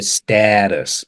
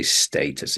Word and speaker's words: status: a status status yeah so in America might hear status whereas we say status in Britain well I don't even